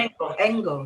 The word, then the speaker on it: Engel: Is that how you say it? Engel? Engel? Yep, that's yeah, fine. Engel, yeah. Engel.